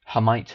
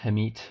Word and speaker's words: Hermite: the nth hermite polinomial hermite herit I've heard it pronounced both ways um uh in terms